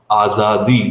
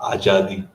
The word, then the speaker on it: azadi: shankar uh you know this is to be pronounced as azadi not ajadi i i really loved